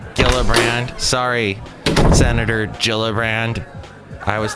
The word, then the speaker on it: Gillibrand: Yes, I meant Gillibrand, not Gillibrand.